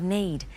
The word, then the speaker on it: knead: soft ready for cooking notice the spelling of need it's spelt KN EA D not n AE D you might also know